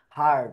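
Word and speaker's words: heard: এটা হচ্ছে হারড। অর্থাৎ আমরা বা ইংলিশে যে আরেকটা শক্ত অর্থে যে হার্ড ইউজ করি এটার উচ্চারণ কিন্তু হার্ড হোয়েন শিল্পী হার্ড এবাউট দোস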